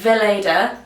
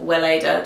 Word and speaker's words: Weleda: Anyway, to avoid that, I use the Weleda, or Weleda, depending if your German pronunciation is on it.